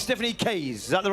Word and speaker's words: Stephanie Case: And it's Stephanie Case. Is that the right pronunciation? Perfect. So Stephanie Case from Canada.